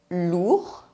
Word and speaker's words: lourd: The sound OU is the same as double O in the English word boot. Lourd.